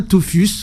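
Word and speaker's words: tophus: peau et ça donne ce qu'on appelle un Tofus goûteux ou des Tofus goûteux vous en avez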